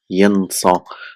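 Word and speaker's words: يَنْسَى: So if you understand that, so because it's already alif maksura and we got a sign of fatha here and this is pronounced as a, so we don't need to put any sign of fatha here, so it's still pronounced as yansa.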